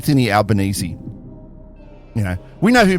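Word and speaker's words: Albanese: the most fews and to pronounce his name is a bit tricky too it's albanesi you know we know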